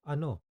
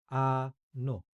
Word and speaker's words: Ano: what what the equivalent word for what is Ano an no and Yes We also